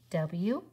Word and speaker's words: would: W-O-U-L-D says would, right? She would like to go outside. W-O-U-L-D, would, rhymes with could.